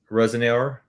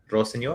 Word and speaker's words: Rosenior: And sometimes I was kind of curious whether Liam Rosan I'm gonna say it like that. Um I looked it up. It's ro sor like I'm saying seenor then. Rosenor.